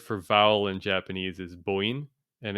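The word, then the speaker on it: 母音: So the word for vowel in Japanese is boin, and it's an interesting word because it's irregular pronunciation. The characters are mother and sound, which would normally be, haha and oto, and haha I think is pronounced usually bo.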